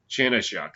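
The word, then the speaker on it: Chanenchuk: Chanechuk, that's how you pronounce it.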